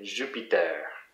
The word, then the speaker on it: Jupiter: But you always have to remember, it's always the last syllable in French that is the most stressed. So we'd say Jupiter, Saturn, and things like that.